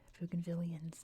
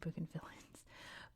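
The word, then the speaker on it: Bougainvillean: So out of respect for the pugan villains bugan villians not bugan villains bugan villians I'm just going to say that they're their own thing.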